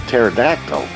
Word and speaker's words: pterodactyl: guys know it's a pterodactyl because the the P is silent so it's taro dome